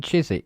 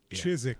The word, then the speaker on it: Chiswick: You mean Chisik. Chisik. We don't pronounce the W.